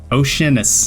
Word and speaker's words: Oceanus: Oceanus. Right? That's how you say it? Oceanus. That's how I would say it. Oceanus. Oceanist. Dragon. Yeah. Oceanus, like an ocean. Oceanus. Yeah.